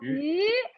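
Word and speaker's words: 余: So yu also means surplus. It's a different character though. Look at this. So yu here means fish, but yu here, the surplus, yu here is a different character. But you know, they have exactly the same pronunciation.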